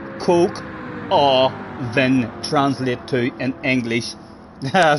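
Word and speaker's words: coq au vin: translate to in English what does coup oven c o q a u v i n three syllables Coke or then translate to in English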